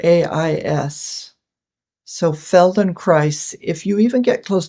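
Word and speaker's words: Feldenkrais: promote neuroplasticity of the brain exactly exactly and Feldon Christ would be much more subtle but it is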